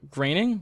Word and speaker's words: Groening: Graining? Is Yeah. it graining or It's, groaning? I know it's pronounced weird. It's not pronounced how it's spelt, but it's definitely graining.